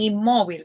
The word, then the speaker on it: inmóvil: Ahora bien, inmóvil. Vamos a ver. Sí, adelante. Inmóvil. Alice, hola. Lleva la sílaba tónica en la en la o en móvil.